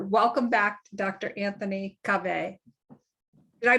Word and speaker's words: Kaveh: Anthony Kaveh. Did I pronounce that correctly? Kaveh. Yeah, Kaveh.